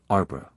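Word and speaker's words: arbre: a piece of bark he learned from darnet that it was pronounced um and in the same way he was taught to pronounce ape sing and tree arbra he was a most eager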